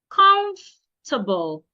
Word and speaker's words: comfortable: Comfortable. It's not comfortable. The O and the R should not be said. comable not comfortable.